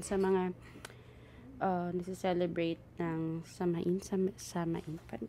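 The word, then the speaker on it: Samhain: mga ah nagce-celebrate ng samain Paano ba bigkasin yit saen so sawin so sa mga nagce-celebrate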